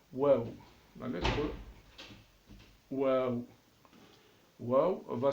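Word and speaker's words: واو: Le W qui peut se trouver en français, qui peut se prononcer de la même manière, qui peut se prononcer wa.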